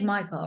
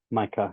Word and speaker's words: Mycah: Your name is Michael, right? I just want to make sure I Micah, pronounce it. Micah.